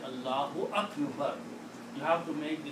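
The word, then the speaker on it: الله أكبر: So when you call adhan, you say Allahu Akbar. So you have pronounced the correct word here, because the word is Allahu.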